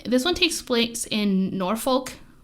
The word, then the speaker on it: Norfolk: this one takes place in norfolk england is how you say it i didn't say norfolk but you can also say norfolk north okay it really kind of runs people in different areas say different things a lot of accent